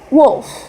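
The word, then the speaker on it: Wolfe: wolf Humbert and a wolf what remember the e is silent at the end of that ah you be more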